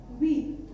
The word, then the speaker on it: huit: 8 is huit. ठीक है, इसका जो प्रोनाउंसिएशन है 8 का वो है व्हीट. इसमें एच साइलेंट रहेगा, तो हम सिर्फ कितना पढ़ेंगे?